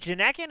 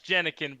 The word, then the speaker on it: Jenikin: Is it Janekin? Is that how I say that properly? It's Jenikin, but everybody butchers it, so don't worry about it.